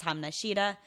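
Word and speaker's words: Hamna shida: what they're talking about the correct way to say this is hum Nishida so if someone hakuna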